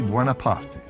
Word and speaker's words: Buonaparte: And here is Napoleon's father, Charles-Marie Buonaparte, pronounced in the Italian manner, a lawyer.